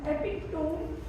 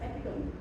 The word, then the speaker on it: epitome: And epic tone could have been pronounced as epitome.